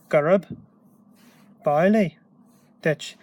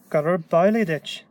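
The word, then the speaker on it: Gurab amhlaidh duit: Gurb Bailey ditch. Gurb Bailey ditch. That B is sticking on, is being carried over into this A. So that's our, these words start come together. So Gurb Bailey ditch.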